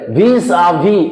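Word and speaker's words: vis-à-vis: আছে দেখো, ভিজ ভিজ, কিন্তু এটার উচ্চারণ ভিজা ভিজ হবে না, এটা উচ্চারণ ভিজা ভি হবে। সবার প্রথমে এটা আমি ক্লিয়ার করে নিই, কি ভিজ ভি, এসটা কি হচ্ছে সাইলেন্ট থাকে, আমরা এটা ভুল করি, আমরা বেশিরভাগ ভাগে কি করি, উচ্চারণ করি ভিজা ভি উচ্চারণ হবে, এস হবে না, বেশিরভাগই আমরা এই জায়গাটা একটা মিস্টেক করি।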